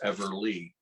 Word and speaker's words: Everlee: Yeah, now they pronounce the hers is spelled Everlee because I'm Lee, so it's Everly.